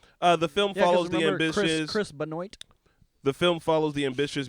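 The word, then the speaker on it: Benoist: Benoit. Benoit. Okay, I know yeah, Chris probably. Benoit. The film Yeah, 'cause follows the remember ambitious. Chris Benoit.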